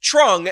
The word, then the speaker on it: Truong: I don't know who told this man, who told his family that a Y could be replaced by a TR, but TR equals Tra. This man should be pronounced Truong, and I think honestly